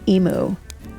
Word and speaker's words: imu: Is it spelled the same as the bird? It is not. Okay. It's IMU.